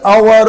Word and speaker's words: hour: their work in the hour of midnight though it begins with h but the sound is a vowel sound the sound is a